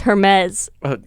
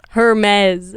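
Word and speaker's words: Hermès: Hermes but obviously know nothing about fashion it's pronounced Hermes Hermes Hermes yeah Hermes I I'm sorry I don't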